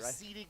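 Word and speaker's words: Abcde: It's spelled A-B-C-D-E, but you said that there's a way to pronounce that properly, right? Absidi Guerrero.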